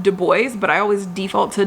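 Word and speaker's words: Du Bois: We e now it's always pronounced dubo but I always default to dubois but we will remember it is do is how is it how it is pronounced.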